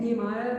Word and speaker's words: Nehemiah: Nehemiah. That's what the dictionary said. Nehemiah, it's just correct. I was going to Nehemiah because I can never think of the English joke about him being knee-high. So Nehemiah 1.